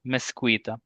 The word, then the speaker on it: mezquita: So mezquita, mezquita. But I was talking with another Spanish friend of mine from Valencia, and he said actually it should be pronounced as mezquita.